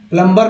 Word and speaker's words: plumber: बी जो है silent है। प्लम्बर नहीं, प्लम्बर क्या बोलेंगे, प्लम्बर।